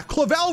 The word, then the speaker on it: Clavel: me Mr clavel yeah clavel rhymes with evil Cleveland this has